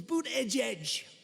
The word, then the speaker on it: Buttigieg: I think it was boot edge. Boot edge. They said, think of it as boot and then edge, because nobody can pronounce this guy's name.